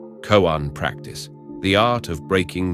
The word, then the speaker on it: koan: A koan, pronounced koan, is often presented as a dialogue between a Zen master and student, or as a short, puzzling anecdote.